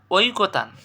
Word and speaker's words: ঐকতান: এরপরে দেখ ঐকতান শব্দ ঐকতান এ সঠিক উচ্চারণ কি হবে ঐ কোতান দেখো দেখো এখানে একটা